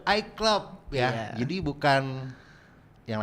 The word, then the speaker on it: IECLOP: Icelop bukan ya? iClub bang, iClub.